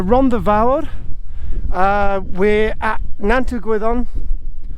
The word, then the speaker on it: Nant-y-Gwyddon: vowed uh we're at nantu guidon on nante guidon as i'm told it's pronounced there's trioki in the